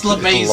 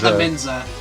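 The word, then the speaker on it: Lemeza: It's LaMesa, not LaMenza.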